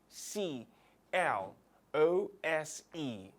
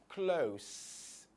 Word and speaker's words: close: ways first as close close meaning the s takes the sound of the letter s and the second pronunciation goes close close this time the s is taking the sound of the letter z or z z okay